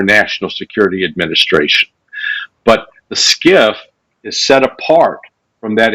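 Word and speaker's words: SCIF: quick uh what's a skiff yeah so skiff stands for sensitive compartmented information facility spelled s-c-i-f but pronounced like s-k-i-f-f and when you go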